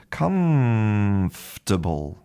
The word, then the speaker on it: comfortable: So, it's comfortable. Comf And you can hear that's not an m. It's not a mmm It's a mmm So, it's more like an n, actually.